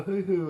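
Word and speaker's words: huhu: guys yeah i think we might throw a hoo-hoo in there for you george it's spelled h-u-h-u we'll figure it john knows all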